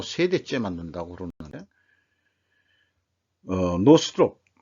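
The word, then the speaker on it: Northrop: 이제 뭐 세대째 만든다고 그러는데 노스롭 노스롭 노스롭이라고 발음해야 돼요.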